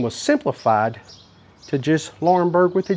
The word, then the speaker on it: Laurinburg: Okay, and I've made my way into the downtown area of Laurinburg, North Carolina, and this is what it looks like.